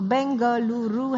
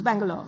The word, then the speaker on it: Bengaluru: So bangaluru has four syllables whereas bangal can be said actually in two syllables. Bangalore like that easy efficient.